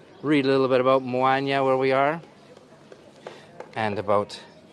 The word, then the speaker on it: Moaña: so you can read a little bit about moanya where we are and about the festival here